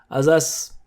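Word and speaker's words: ありがとうございます: doumo and simply keep arigatou gozaimasu. Arigatou gozaimasu. Arigatou gozaimasu. Watch out, because sometimes I hear people say it so fast that it sounds like azas, azas, arigatou gozaimasu, azas.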